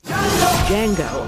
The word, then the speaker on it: Django: And yet, here they are, facing off in one of the most daring movies of the year, Django Unchained. What's your name? Django. The D is silent.